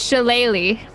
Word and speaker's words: shillelagh: one hand and cast Shillelagh. There you go. I thought that's what you meant. It has a G. Yeah. No, but it's pronounced entirely different.